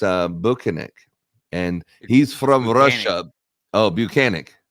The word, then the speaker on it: Bukhenik: it's actually not it's uh bukinik and he's from Russia oh banic banic is